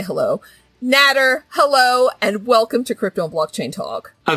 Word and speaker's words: Nader: But this week, I have none other than Nader, that rhymes with Ladder, Al-Naji.